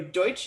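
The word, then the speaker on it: Deutch: Starring James Franco, Bryan Cranston, Megan Mullally, Zoe Deutsch, I believe is how you say her last name.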